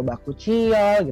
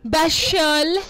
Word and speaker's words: Bakuchiol: Kita lagi ngomongin Bashol. Bacanya apa? Bashol, Bakuchiol ya. Bacanya apa sih kan sebenarnya? Bakuchiol atau Bakuchiol? Oh, Bakuchiol.